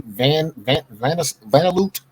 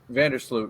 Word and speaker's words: Vandersloot: I can't pronounce this lady's last. She's on Chicago. Her name is Courtney Vanderloot. Vandersloot, yeah.